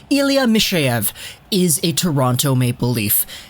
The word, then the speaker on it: Mikheyev: So it's kind of like a Mikheyev kind of sound. To me, it kind of feels like the K actually translates to an S sound.